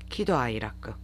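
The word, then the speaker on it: 喜怒哀楽: 거기에 뒤풀이자 이렇게 들어가요 이럴 때에는 음독한자로 키라고 발음을 해야 됩니다 기도 아이라크 희노애락의 일본어 발음은 기도하이라크 n1 이상의 단어다라고 기억을 해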